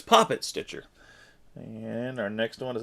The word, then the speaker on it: Poppet Stitcher: have puppets pop it i say puppet it seems like it's it's puppet stitcher but it's poppet stitcher and our next one